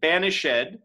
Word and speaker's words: banished: Banished has an accent on that ED.